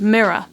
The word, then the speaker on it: mirror: is the word mirror in the middle of the word mirror there's actually a pronounced rotic R where there's a vowel sound following the R so therefore we do say the r sound but at the very end of the word mirror there's this R which is silent and dropped off because it's not followed by any vowel sound additionally again at the